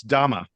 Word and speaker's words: Dame: By the way, I think I mispronounced his name on the last episode. It's Dama. That is how his name is properly pronounced.